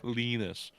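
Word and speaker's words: Linus: Samuel Arison gos and lonus omark sorry lenus yes say it right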